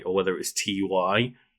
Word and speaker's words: Ty: or whether it was TY. I always pronounce it Ty because it's the guy's name. But exactly, it's a guy's name. It's Ty. Like it's not a logo of like capital T, capital Y.